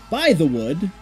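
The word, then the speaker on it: Bythewood: existence because director Geena prints by the wood that's how that's pronounced right by the wood by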